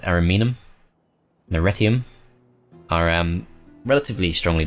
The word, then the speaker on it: Ariminum: Ariminum, that's how it's pronounced, Ariminum, and Arretium are relatively strongly defended.